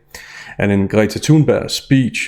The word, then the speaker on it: Greta Thunberg: And in Greta Thunberg's speech, or Greta Thunberg as I'll pronounce her name in English, there's a lot to look at beneath the surface.